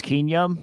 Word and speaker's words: Keenum: Case Keenum. He just got traded there. Case Keenum? All right. Damn. And yeah, that's how you pronounce his last name.